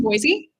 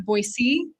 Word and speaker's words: Boise: I think you could tell that I'm not because I called it Boise instead of Boisey. Actual actual local boyians say you're not from here because you say it wrong.